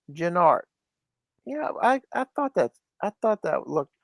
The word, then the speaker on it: Gennard: I'll mention it now because of last episode's comment, but my last name is pronounced Gennard.